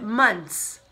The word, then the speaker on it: months: E quando você fala no plural, você não precisa pronunciar aquele TH, tá, gente? Vai ser months.